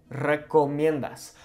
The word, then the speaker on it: recomiendas: ¿Qué recomiendas? Notice how on this first R, we're rolling it.